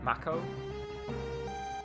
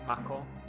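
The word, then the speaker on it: Mako: So, how did how I pronounce it? Maco. But I think yeah, it's meant to be like Macko the type of energy.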